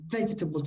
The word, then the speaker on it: vegetables: practically disappears okay uh the same with the word vegetables the key point i think is to uh be careful where you stress the word just the first syllable vegetables if you put that stress correctly the rest will be natural okay vegetables okay uh remember